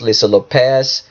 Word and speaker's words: Lisa Lopes: I think it's pronounced Lisa Lopez, but it's spelled L-O-P-E-S, and it will give you instructions.